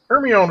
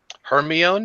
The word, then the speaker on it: Hermione: Hermione is supposed to be black. Kinky hair, fucking whatever. She's supposed to be black. Wait, what did you just call her? What did you just call her, Stabby? Hermione?